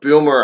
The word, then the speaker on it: Bummer: So Aaron Bummer is on the mound, or Boomer, or however the hell you want to say it. It's spelt Bummer, Bummer. So just calling it like I see it.